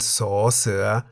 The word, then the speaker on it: ส: That is the Thai consonant saw, se, which we can summarize as a consonant that sounds like an S at the beginning of a syllable and a T at the end of a syllable.